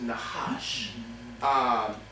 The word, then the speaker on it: Nahash: It's spelled N-A-C-H-A-S-H, but it's pronounced Nahash.